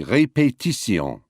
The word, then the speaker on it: répétition: Even words with many syllables are equally stressed in French. We say repetition. They say répétition. Répétition.